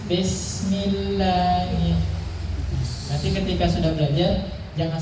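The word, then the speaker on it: بسم الله: Nah, ketika mengucapkan kasrah yang sering kali keliru itu adalah kasrah diucapkan seperti huruf E. Bismillah, tapi bismillah. Nah, itu seringkali terjadi kesalahan.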